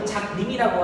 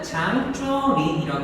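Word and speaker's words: 張作霖: 만주군 부활 세력이었던 누구였냐면 이 당시에 이제 한자로는 장작림이라고 하고 중국 발음으로는 장쭈린이라고 합니다.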